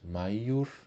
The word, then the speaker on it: maior: for usar aí a a pronúncia tradicional seria peor e peios maior e maios e não pronunciado como j já um outro adjetivo